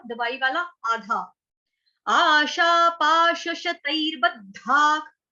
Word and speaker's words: शतैर्बद्धाः: आशा पाश शतैर्बद्धाक, विसर्ग का उच्चारण हो रहा है ख से, क्यों, क्योंकि आगे क आया है इसलिए।